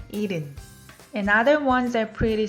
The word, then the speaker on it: 일흔: When you look at how it's written, 일흔, but H is very soft. Almost you don't hear it. So it sounds more like 일흔.